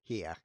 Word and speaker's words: hier: In German, the word here is pronounced hier, and it actually means here.